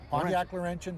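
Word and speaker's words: Pontiac Laurentian: then and this is this is a Canadian Pontiac Lenin right yes did I pronounce that right yep Pontiac Lenin 1961 one of 125 built in this body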